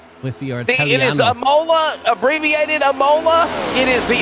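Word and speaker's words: Imola: It is Amola, abbreviated Amola.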